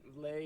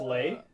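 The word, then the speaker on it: Lê: the family name going gotcha yeah um from Lei is very common a very common Vietnamese last names I'm not really particularly you know it's the Smith of uh it's pronounced it's pronounced Lei yeah pronounced Le but I just say Lee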